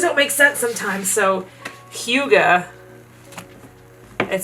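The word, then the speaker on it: hygge: things we need process is how do you pronounce the word h y g g e let's find out Huga okay that's why I didn't say it and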